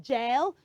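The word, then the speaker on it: gaol: e e t okay for the one I said earlier which was um gel you can just write beside the g a o l just write g a i l you know that will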